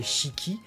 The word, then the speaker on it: Shiki: qui forcément, sans douter, il est prononcé Shiki, donc bien avec les deux syllabes détachées. En japonais, ils auront tendance à aller vite sur le i, sur le premier, sur le shi, ça va être Shiki.